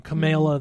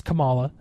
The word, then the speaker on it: Kamala: They always said her name wrong. Kamala this, and it's Kamala.